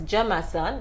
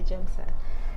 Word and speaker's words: Jamson: Yeah, so we were like, okay, probably it's Jamason, but the thing is also when you're singing, you're not really saying the thing how, or maybe it's even how that's just how she pronounced it, but it's actually Jamson.